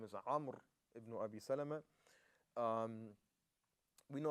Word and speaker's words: Amr: And that's, again, I said Amr because some scholars of Rijal, I think Sheikh Al-Tusi says that the correct pronunciation is Amr, but both of them,